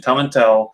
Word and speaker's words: Tomintoul: I actually looked it up before I went on the pronunciation. Tomintoul 16.